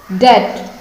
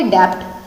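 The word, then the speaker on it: debt: B silent करेंगे तो क्या हो जाएगा, वैसे तो आप बोलते अगर क्या बोलते डेप्ट, लेकिन जब बी को साइलेंट कर देंगे तो क्या बोलेंगे, डेट, DET, डेट, ठीक है, डेट।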